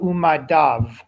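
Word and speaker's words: וּמַדָּיו: And pronounce the vav, umadav. Umadav.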